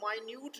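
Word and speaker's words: minute: آف دا مائنیوٹ details. اب یہ منٹ کے سپیلنگ بھی، منٹ کے سپیلنگ بھی یہی ہوتے ہیں، اور مائنیوٹ جو ہے یہ اس کے سپیلنگ نہیں ہے لیکن پروننسیشن میں ڈفرنس ہے، تو یہ ہے مائنیوٹ۔ مائنیوٹ بھی کہتے ہیں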